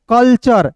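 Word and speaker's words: culture: कल्चर। यहां पे आधा ल का आप प्रयोग कर सकते हो। तो क्या हो जाएगा दोस्तों? कल्चर।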